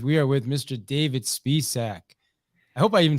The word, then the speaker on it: Spisak: for you guys we are with mr david spiessack i hope i even said your last name